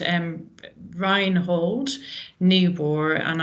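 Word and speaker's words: Niebuhr: called um ryin hold newb and I'm probably pronouncing that wrong it's NE e i n i e h no sorry n i e b u h u r thank you so you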